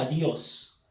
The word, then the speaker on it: adiós: si me doy cuenta la mi pronunciación lleva énfasis en la sílaba adiós ahora me doy cuenta que también esta palabra al llevar la fuerza de voz en la sílaba dios es una palabra aguda terminada en s por lo